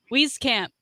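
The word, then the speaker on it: Wieskamp: about those two guys wheeze camp yep let's get those german names right so i'm sorry it's w-i-e okay and german it's always going to go with that second letter so it's reef cap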